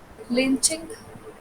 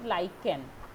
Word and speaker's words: lichen: fungi do you know the answer I think lynching no it's it's pronounced as lichen like create is pronounced as like a curve